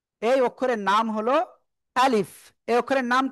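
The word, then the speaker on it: ألف: এখন আ শক্ত হবে। লিফ। তো এখন শেষের দিকে উচ্চারণটা কেমন হবে? নিচের ঠোটের পেট উপরে দুই দাঁতের আগায় লাগাবো। সবাই খেয়াল করবেন। খেয়াল করবেন। লাগিয়ে হালকা বাতাস বের করব। বের করে আমরা কোন না টেনে উচ্চারণ করব।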